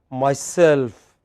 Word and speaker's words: myself: not myself but myself whenever you have self stress is on self so you it is myself follow me say after